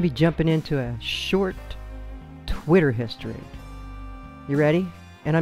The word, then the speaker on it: TWTTR: Anyway, within 6 months after the launch, TWTTR, and it's pronounced Twitter, had become what we now know today as TWITTER, also Twitter.